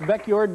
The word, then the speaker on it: Beckjord: Your last name is pronounced Beckjord, B-E-C-K-J-O-R-D? Yes, it is. What nationality name is that? It's Norsky.